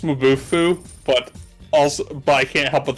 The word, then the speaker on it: Mabufu: pronounced Mabufu, but I can't help but think of Mabufu.